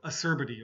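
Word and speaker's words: acerbity: I've heard a few times this pronounced poorly. So, asserbety.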